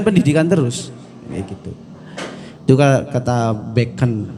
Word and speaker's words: Bacon: terus begitu juga tetap beken be'en bacanya Francis Bacon Bacon tulisannya hehehe biasa bahasa Inggris